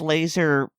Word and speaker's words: LASR: I mean, okay, it's catchy, but LASR pronounced laser for a lever gun is, I'm not really sure what word I'm looking for.